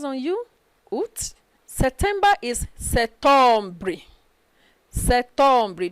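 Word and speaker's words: septembre: you september is september se tumbri don't pronounce p don't say sep tomb no let dp be silent september october becomes october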